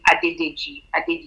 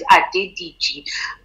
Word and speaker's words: Adediji: collected at the ddg i always try and make sure i pronounce it properly not saying adidas so it's a ddg i'm a creative i'm